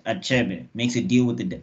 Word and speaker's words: Achebe: empowered this guy called Achebe I think that's how we pronounce it it's a-c-h-e-b-e my the way I know African dialects I guess is that it's not something where we hide letters so I know I I